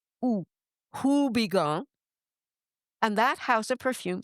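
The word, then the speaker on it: Houbigant: But I'm going to say it the way an American would say it, which is who because it starts with an H. like Higong.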